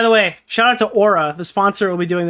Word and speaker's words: Oura: And one of the things I believed was that the pronunciation of their company, O-U-R-A, was Ura. It's not. It's Aura, like A-U-R-A.